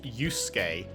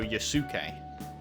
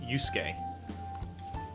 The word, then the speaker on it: Yusuke: It's weird that it's pronounced Yusuke, like there isn't a U in between the S and the K. I would have, if I just saw that, I'd go Yusuke.